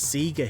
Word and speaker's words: Sega: the Sega Megadrive also people seem to pronounce Sega as Seger he'll at any rate